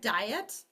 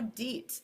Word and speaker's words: diet: I just told you that the IE will say E there. So deet. Is that the word deet? No, it's not. It's the word die with 1 syllable and et in the other. Diet.